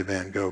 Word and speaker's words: Van Gogh: we don't like to say guttural sounds like that so we usually say van gogh because it's nicer and that's why i